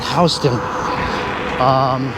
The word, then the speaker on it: Houston: It's actually spelled Houston, but over here we pronounce it Houston.